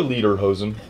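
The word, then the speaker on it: Lederhosen: yeah above the knee how's it pronounced leader leader which is leather leather pants that's all what it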